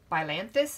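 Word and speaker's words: Spilanthes: Okay, the next one is the toothache plant, or Spilanthus is how it's pronounced.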